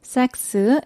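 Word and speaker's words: Sacks: 삭스, S-A-C-K-S예요. 잘못 발음하면 오해할 수 있기 때문에 정확히 알려드립니다.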